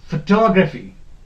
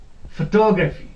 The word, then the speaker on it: photography: end is this toe photography photography we pronounce it wrongly photography that is wrong photography we gives requests here on phone but that is wrong this address has to be put here onto photography photography okay then we have